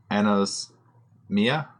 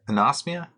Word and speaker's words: anosmia: is there killed uh Ana's Mia oh come on dude you gotta pronounce that better anosmia yeah anosmia and that's the condition